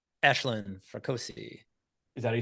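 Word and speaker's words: Aisling: I believe is her name and hopefully I pronounced that correctly ashin frosi is is that you say okay ashleen yeah I I think she was good I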